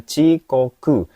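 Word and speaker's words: 遅刻: Jadi ini bacanya chikoku.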